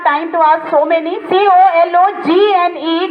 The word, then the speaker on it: cologne: COLOGNE, G is silent here.